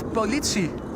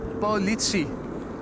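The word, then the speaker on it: politie: Steven wonders how to pronounce police in Dutch. That's Politi. Politi that's that's that's police pronounced in Dutch.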